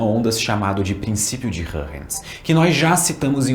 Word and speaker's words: Huygens: E só uma nota, eu já falei o nome Hörrens algumas outras vezes em alguns outros vídeos desse capítulo e provavelmente vocês estão me xingando mentalmente ou nos comentários, mas essa é a pronúncia certa. Mas a gente também pode falar Huygens ou Huygens, ou sei lá, qualquer coisa serve.